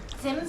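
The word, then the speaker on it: Zimt: Simt. Simt. Yes. Think about it as spelled with TS.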